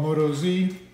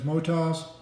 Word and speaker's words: Motoz: the mo tiles but most people call moto Z correct pronunciation as motos this is the Moto's